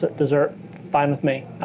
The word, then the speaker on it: Desert: desert island it's spelled desert but the locals pronounce it desert fine with me I like desert um and